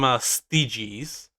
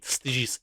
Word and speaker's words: Stygies: It's spelled Scaevola, and she's from Styges, which is a Forge world, of course, a